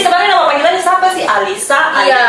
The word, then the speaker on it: Alisa: Alisa, Iya, Alica, atau siapa? Alisa Kak. Alisa. Alisa. Oh, bukan Alica tapi nama Instagram Pak. Iya. Alica. Iya. Oh, itu nama plesetan. Oh. Pronunciasinya Alisa Kak.